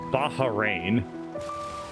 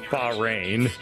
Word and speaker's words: Bahrain: pronounce correctly insofar as they refer to it as Baja rain and I'm like no there's no like laughter in the middle of the word Bahrain which is just Bahrain but I mean I